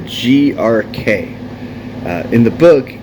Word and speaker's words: Grok: First things first, the correct pronunciation of Grok is more like a GRK.